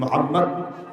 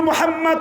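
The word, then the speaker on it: মুহাম্মদ: রুহুল মানীর ভিতরে সূরাতুল মোহাম্মদ 47 নাম্বার সূরার 55 নাম্বার খন্ডের 67 নাম্বার লাইনে তিনি বলেছেন মোহাম্মদ শব্দটা উচ্চারণ করতে দুই ঠোটের মিলন হয়ে যায় আর মোহাম্মদ শব্দটা উচ্চারণ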